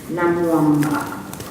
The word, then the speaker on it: Namwamba: This is the Deputy Minister of Foreign Affairs from Kenya, Honorable Ababu Namwamba.